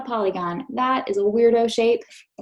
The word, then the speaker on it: polygon: first syllable Paul super Sneaky like e last syllable good on gone polygon say it with me polygon a polygon is